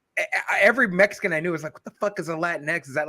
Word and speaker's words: Latinx: During the meetings, when Dave goes, I just learned it's supposed to be pronounced Latinx.